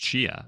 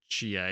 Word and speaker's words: Tchia: I also finished Chia.